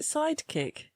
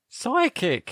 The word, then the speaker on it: psychic: Was it sidekick? Psychic. Oh, psychic. Now, does that contain a silent P, followers, and M, or does it start with an S?